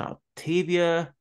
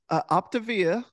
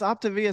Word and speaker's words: Optavia: It's an Octavia coach. What is that exactly? Yeah, so it's actually pronounced Optavia, but I know Octavia, okay. it's a weird spelling, but yeah, it's Optavia.